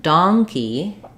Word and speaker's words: donkey: sound first syllable stress but donkey has the on so it's like an a vowel so do dongy first syllable stress so like ding dong like a doorbell um you can think about it like as in the word Dawn the a vowel um lawn or Dawn or long um so think about a long donkey tail and a fun monkey